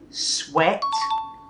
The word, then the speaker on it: sweat: Sweat, not sweat.